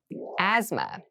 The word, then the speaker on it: asthma: Asthma. Asthma. Asthma. So this word has very interesting spelling. There's a th in the middle, but we don't say am asma, we say asthma.